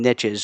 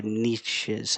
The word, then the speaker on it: niche: There's a million niches or niches. How do you say it? Niche. Either one.